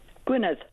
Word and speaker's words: Gwynedd: Gwynedd. Gwynedd. Oh, it's the th instead of the d.